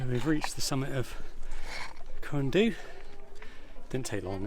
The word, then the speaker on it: Cwm Llwch: So heading to Cwm Llwch, that's how you pronounce it, and then yeah, going to start the walk down along the Cwm Llwch ridge.